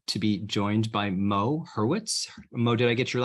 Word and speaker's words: Hurwitz: And today I am happy to be joined by Mo Hurwitz.